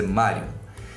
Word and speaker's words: Marjun: para falar da Mario Mario se escreve marjon mas é Mario Mario foi uma mulher